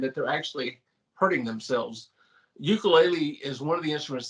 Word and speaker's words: ukulele: Because when I first began this, I watched a guy named Jake Shubakuro play it, and he called it an ukulele, which is probably the proper way to say it.